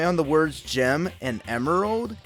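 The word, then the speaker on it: Emerl: emerald by the way I'm pronouncing his name emerald as a play on the word Emerald because I think it's cute and probably what the developers had in mind though according to a friend friend of mine the Jazzy man he tried to argue that his name isn't pronounced Emeral but apparently Emeral yeah I don't get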